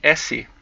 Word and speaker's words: S: slow down to the s and from the s but pronounced se in Portuguese you go to the